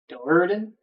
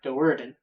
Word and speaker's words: Do'Urden: Do'Urden? I guess is supposed to be has the accents on the Do'Urden.